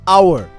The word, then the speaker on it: hour: example in the word our the H is silent it begins with a vowel sound ah so we use